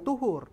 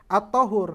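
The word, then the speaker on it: الطهور: albahru itu at thahur dibacanya jangan thhur at thahur Kenapa thahur karena albahru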